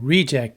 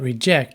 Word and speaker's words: reject: noun or a verb so reject is a noun but reject is a verb compress